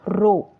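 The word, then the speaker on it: ρ: Density को हम इससे लिखते हैं, प्रोनाउंस कैसे करेंगे, RHO, रो, इसको रो बोलते हैं, ठीक है, mass by volume, M for mass, V for volume, ठीक है।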